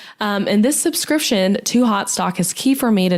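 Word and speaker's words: Haute Stock: so it's spelled like Oak Couture um but pronounced hot stock which I really love um and I've been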